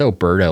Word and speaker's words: Oberto: It's Alberto, like the beef jerky. Perfect. Yeah, same. Alberto.